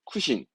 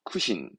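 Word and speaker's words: 苦心: 이게 음독을 보시면 첫 번째 우리말로는 고심한다 이건데 발음은 쿠신 챙기셔야 됩니다. 이건 특이하게 쿠로 갑니다. 쿠신, 쿠신.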